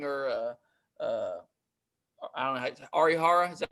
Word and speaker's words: Arihara: of dane dunning or uh i don't know arihara is that how you say his name yep